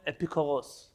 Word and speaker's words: Epicurus: There was a famous man named, in Hebrew we call him Epikuros. I think in English they call him Epicurus. Could it be that I pronounced it correctly?